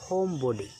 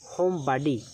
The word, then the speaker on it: homebody: এটাকে আমেরিকান উচ্চারণ হচ্ছে হোম বাডি এবং ব্রিটিশ উচ্চারণ হচ্ছে হোম বডি। দুটোর যেটি আপনার ভালো লাগে আপনি ইউ ক্যান ইউজ এনি ওয়ান, আপনি যে কোনো একটি ব্যবহার করতে পারেন।